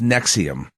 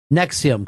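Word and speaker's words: NXIVM: the name of it it's pronounced nexium nexium cult like the heart that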